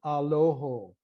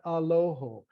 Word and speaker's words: Aloho: Mediterranean in Syria there, would use the O sound. So for example, we pray, Kadishat Aloho, Kadishat Hayeltono, Kadishat Lomo Yuto Itrahamalai. You hear that O sound?